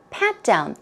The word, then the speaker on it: pat down: pat down listen carefully pat down stress goes on the first syllable okay pat down so